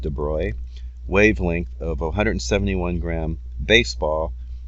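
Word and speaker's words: de Broglie: let's see what is the dubrow pronounced 'da broy wavelength of 171 gram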